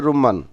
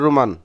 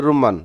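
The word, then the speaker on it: رمان: ডালিমকে বলে থাকে রুমান, সঠিক উচ্চারণ হচ্ছে রুম্মান। সৌদি আরবে আপনারা দেখবেন রুমান, আর সঠিক উচ্চারণ হচ্ছে রুম্মান, রুম্মান মানে হচ্ছে ডালিম বা ডালিম ফল।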